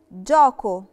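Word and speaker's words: gioco: رقي بتخليني انطق الجي جي جي فبقت جينتي جوكو جوكو جوكو جوكو يعني لعبه نطقتها جاكو علشان برضو ما نطقتش فيها للعطر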